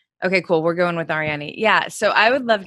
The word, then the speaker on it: Arianny: right yeah spanish okay cool we're going with ariani yeah so i would love to know i